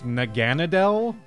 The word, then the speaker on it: Naganadel: you say this word this this name it's naganadel it was like an ultra Beast that somebody